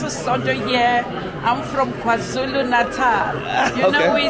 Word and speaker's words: KwaZulu Natal: They're from KZN, Kwazulu Natal. Am I saying it right?